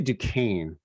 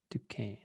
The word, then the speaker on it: Duquesne: I'd say Duquesne, Duquesne.